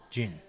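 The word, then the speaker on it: djinn: It's called Gin. It's spelled D-J-I-N-N.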